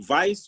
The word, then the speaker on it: Weiss: for curiosity as you are looking what the pronunciation was waste or vase yeah no no no it's jam vice was uh austrian yeah yeah so um yeah